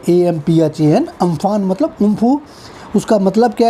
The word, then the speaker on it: Amphan: हैं इंग्लिश में cyclone, अम्फान ना। इसको ऐसे याद कर लो आप, आम और फन तो सांप का होता है, अम्फान, AMPHAN। ओके, बट इसका सही उच्चारण है उम्फू।